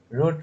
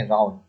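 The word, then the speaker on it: rout: रूट रूट रूट पढ़ेंगे नहीं, इसको पढ़ेंगे राउट। जो किसी को आसानी से हरा देता है ना, उसको बोलते हैं राउट।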